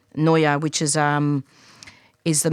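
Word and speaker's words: NIOA: Now I'm not sure how it's spelled N I O A. It's actually Noa which is um is the majority supplier of guns and bullets to Australian police.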